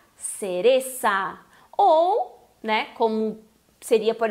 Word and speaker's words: cereza: tens que pronunciar cereza. Ou, né, como seria, por exemplo, na Espanha, seria cereza. Empaquei aqui. Cereza, né? Eles fazem a língua entre os dentes, o som parecido com o TH do inglês, né?